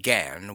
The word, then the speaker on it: gan: She pronounced it gan, with only a suspicion of a nasal sound.